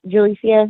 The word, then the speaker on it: Julicia: you uh-huh oh and you did pronounce my name right by the way julicia that's how you say it okay perfect well I'm